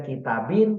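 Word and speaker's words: كتابٍ: kemudian pakai Nun begitu kemudian kitabin dia pakai kasrh kemudian pakai Nun bersukun begitu ucapannya seperti itu tetapi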